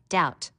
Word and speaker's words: doubt: You should learn how to spell doubt. Notice the silent B.